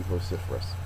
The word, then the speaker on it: vociferous: to themselves would be vociferous it is an adjective second syllable is accented the synonym is uus